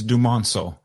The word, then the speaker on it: Dumonceaux: Can you give me the pronunciation, on your last name, please? Absolutely. It's Dumonceaux.